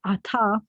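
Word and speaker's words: עַתָּה: but think is related, is ata, which is one of the words for now. Ata, not to be confused with ata that's spelled with an aleph, which means you, masculine singular.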